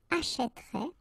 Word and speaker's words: achèterait: will change the pronunciation, so you will get this E, achèterait, achètera, achètera, achèteront, achèterait, achèteront.